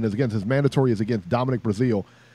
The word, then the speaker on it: Breazeale: So now he finally gets his mandatory, and his mandatory is against Dominic Breazeale. I think it's Brazil. I think they pronounce it Brazil, but either way, that's who his mandatory is against.